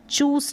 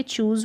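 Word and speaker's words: choose: अब चूज ज पढ़ेंगे, एस को ज, चूस नहीं पढ़ेंगे, चूज पढ़ेंगे।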